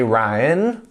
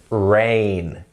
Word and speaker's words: rain: Remember, we don't say rain or rain, it's rain. Can you say that?